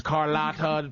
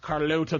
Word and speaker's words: Carlotta: My name is Carlotta, pronounced Carlota to some.